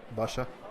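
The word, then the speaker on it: باشا: As in, like, Pasha is a boss, is how you say boss, or you know, in Arabic they say Basha, which is Arbab.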